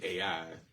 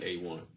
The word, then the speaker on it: AI: And she doesn't either doesn't know how to pronounce it, which is only AI. She pronounced it A1.